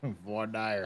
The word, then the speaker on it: voir dire: It's voir dire.